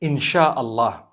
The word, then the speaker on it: Insha'Allah: They pronounce the S-Y the way we pronounce S-H. So they can write it how they want, for as long as when people read it, they read it Insha'Allah.